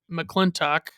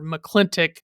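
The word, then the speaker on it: McLintock: in another childhood favorite, McClintock or McClintock, whichever way you want to pronounce it. They pronounce it McClintock in the movie, but it's like I pronounce it McClintock when I'm saying the name of the movie.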